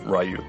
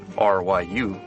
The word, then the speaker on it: Ryu: and and stuff and I always said rayu Ray it's just because in English when you write R Yu mhm that's what you would say you know there's no do sound in English you know okay and so like unless you speak to somebody who speaks Japanese or you listen to an example I don't think anybody would think of pronouncing Ryu as Je oh they would